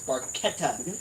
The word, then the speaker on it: Barchetta: it right is that Barchetta is barqueta for those Rush fans